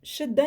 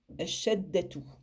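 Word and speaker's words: شدة: Shin, il n'a pas, on le prononce en fait légèrement, alors que le del, lui, il est surmonté de la shadda, donc obligé d'insister. Shadda. Shadda. Je n'ai pas prononcé jusque la fin.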